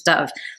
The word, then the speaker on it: Dove: Interestingly, Gabrielle Zevin in interviews pronounces it Dove, but in the audio version they pronounce it, the narrator pronounces it as Dove. So I'm not sure how we're going to pronounce that. I'm going to go with Gabrielle Zevin's pronunciation of it, which is Dove.